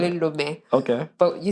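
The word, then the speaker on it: Lomé: I don't think I've pronounced it the same way you did. I think we call it Lome. Okay. But you said something else. Lome.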